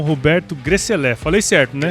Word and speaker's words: Grecelé: Estamos começando mais um episódio aqui do Agro Resenha e nesta semana estou aqui com o Roberto Gresselé. Falei certo, né? Gresselé, essa é a pronúncia.